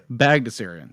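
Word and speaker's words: Bagdasarian: info instead so real question how do you pronounce the uh the guy who created magnussarian is my best estimation magnussarium baghdasarian thank you all right so i mean the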